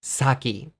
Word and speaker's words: sake: say it right away the way to say nihonshu in English is saki sake I really like sake